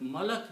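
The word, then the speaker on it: مَلَك: the same three letters malik malik means king malik means king but malak means angel okay so but the word we are using in the quran is the first one which is muller so we have to focus on that we don't need this one but it is important that you pronounce correctly otherwise the meaning changes okay so it's plural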